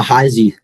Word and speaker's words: Heisa: Heis, how do you pronounce it? Uh, Heisy.